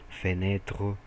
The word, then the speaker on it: fenêtre: Por isso que eu falo fenêtre, ouverto. Eu não pronuncio o e.